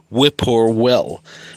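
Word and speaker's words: whip-poor-will: Whip or will which is just phonetically close. It's not even spelling.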